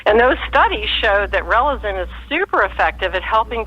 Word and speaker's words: Relizen: It's called Relazin. It's spelled Relizen, and you can just get it online.